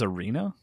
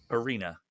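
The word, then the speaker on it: Erina: Persona 5 tactica wait her name's Arena Arena ER i n a e r oh okay like Aaron with an a at the end okay because Persona the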